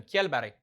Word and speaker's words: Kjellberg: How do you pronounce his last name? Kjellberg.